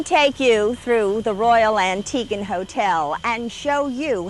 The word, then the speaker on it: Antigua: After a beautiful flight on Biwi, we arrived here on this paradise island of Antigua. And be careful to pronounce it, Antigua.